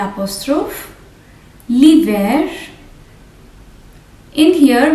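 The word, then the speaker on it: l'hiver: val here l apostrophe liver in here we will not pronounce the h li ver e lapos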